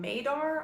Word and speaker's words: Madar: lastly we have this fragrance which is called maydar i believe is how it's pronounced m-a-d-a-r and this one sounds